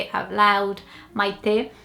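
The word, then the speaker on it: Maitê: say it out loud, Maite. It's all about the second syllable. But here in the UK, I think it would be Meite, Maite.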